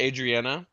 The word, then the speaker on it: Adriana: I kind of want to know, is it Adriana? Yes. Is that how you say her name?